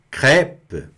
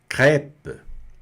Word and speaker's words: crêpe: Olha aí o delicioso crêpe. O prato maravilhoso aqui da Normandia, da Bretanha. Crêpe. Tá? Se pronuncia bem aberto mesmo.